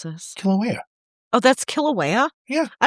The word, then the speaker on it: Kilauea: How do I pronounce this? Kilauea.